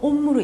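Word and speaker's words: homme: 자, 아쉬는 불어에서는 단어 사이에 끼어 있으면 절 전혀 발음을 하지 않아요. 그냥 없다고 생각하시고 읽으시면 되거든요. 예를 들어서 온 자, 남자라는 단어인데요. 남성 명사겠죠? 남자라는 단어기 때문에. 자, 온무인데 여기서 아쉬로 시작하면 없다고 생각하시고 발음 안 하시고 온무로 읽으시면 되고요.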